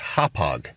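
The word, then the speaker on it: Hauppauge: i want to hear this gentlemen the correct pronunciation for hophog new york is hophog wow i i didn't catch it the first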